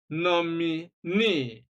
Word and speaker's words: nominee: We have absentee, détenu, nominee, reportee, divorcee, and so on and so forth.